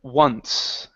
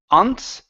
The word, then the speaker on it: once: All right, and I believe your last one is the word once. Okay, instead of once, one, once. Once.